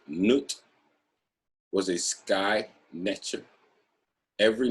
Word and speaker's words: Nut: Nut, pronounced Nut, was a sky netcher.